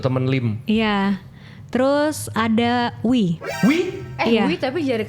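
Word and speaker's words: Oey: Oh dibacanya Wi. Iya. Berarti Oh, harusnya itu sebenarnya nama dia bacanya tuh Wi. Morgan Morgan Wi. Wi. Morgan Wi. Oh bukan Morgan Oi.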